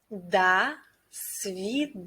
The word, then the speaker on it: До свидания: До свидания. Pay attention that in the first word we pronounce letter O like A.